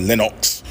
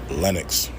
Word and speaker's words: Lenox: be fucking this up calling it Lenox. Lenox. Like, nah, bro. Lenox. Just let it roll off the tongue. Pause. Lenox. That's it. And niggas be putting too much emphasis in it. It's not that hard. You don't gotta study it. Just do it.